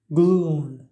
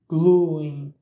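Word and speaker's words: glúin: Selon la région, la prononciation du mot gloon peut changer. Vous allez peut-être entendre le i après la voyelle u. Donc, ça donne gluing. Gluing. Les deux façons de prononcer, elles sont correctes.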